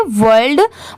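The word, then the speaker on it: world: ओ आर एल डी इसे क्या पढ़ेंगे वर्ल्ड बहुत सारे लोग इसे वर्ड भी पढ़ देते हैं बट नहीं देखिए डब्लू ओ आर डी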